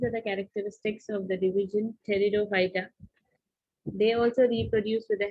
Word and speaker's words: Pteridophyta: So P is silent here. You have to read this word as Pteridophyta.